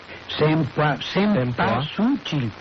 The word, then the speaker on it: cempasúchil: En realidad, la Cabrera, que es el especialista en estas cosas, uno de los nahuatlatos, dice que se escribe con C-E-M-P-A-S-U-C-I-L y con acento en la U. Cempasúchil.